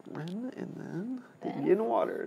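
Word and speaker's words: 壬: How do you pronounce it? Ren. Ren. Oh, yeah. It's Ren, and then the yin water is the hardest character.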